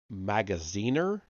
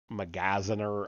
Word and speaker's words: Magaziner: such as Ira magaziner magaziner I don't know how to pronounce that it's like Magazine with an r on the end um if you listen